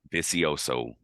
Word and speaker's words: Vicioso: print I keep pronouncing the last name wrong pronounce it for usioso thank you so much we had her on